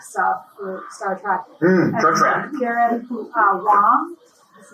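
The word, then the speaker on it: Garrett Wang: Garrett Wong, his name is pronounced, I learned, who was on Star Trek Voyager, is the director of the Trek.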